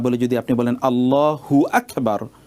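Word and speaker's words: الله أكبر: হু আকবার যদি আপনি বলেন তাহলে মনে হচ্ছে যেন হুটা আকবারের সাথে সম্পৃক্ত। তখন অর্থের বিকৃতি ঘটে। সেজন্যে আমাদেরকে অথবা অর্থই তৈরি হয় না। সেজন্য বলতে হবে আল্লাহু আকবার। এভাবে ঠিক এমনিভাবে সূরাতুল ফাতেহা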